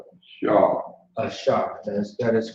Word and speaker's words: Ashar: Do you know how to pronounce it? That's right. Shaw. Ashar.